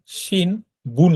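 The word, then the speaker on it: 新聞: তারপর এখানে দেখেন শিন বুন লেখা, তাই না? শিন বুন মানে হচ্ছে সংবাদপত্র, কিন্তু এটার উচ্চারণ এই নয়ের উচ্চারণটা ময়ের মতো হয়।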